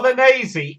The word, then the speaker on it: Bolognese: The Well- Bolognese is the proper Italian pronunciation because they pronounce the final E.